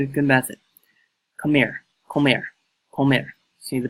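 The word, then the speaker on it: comer: grin I'm good at the method come here Comair home ever see the pronunciation right there Comair to eat the Spanish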